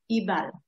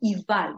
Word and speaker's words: Ebal: That will take us about an hour drive to our next destination, which is Mount Ebal, all right? Or Eval, this is how we actually pronounce it in Hebrew.